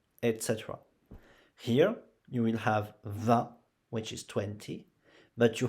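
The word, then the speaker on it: vingt: But you don't pronounce V-I-N-G-T, you pronounce 20 like that. 20.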